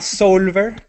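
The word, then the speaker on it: Soulver: Yo voy a recomendar una que no es gratis, que se llama Solver.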